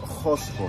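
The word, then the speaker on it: Qusqu: En Quechua lengua o lengua Quechua es Josco. Josco. La good pronunciation.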